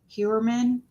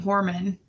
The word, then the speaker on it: Heuermann: I guess you pronounce it Heuermann. Heuermann. I was saying Heuermann.